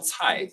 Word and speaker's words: Tsai: Well, Tsai, like Tsai Yeah, Ing-wen.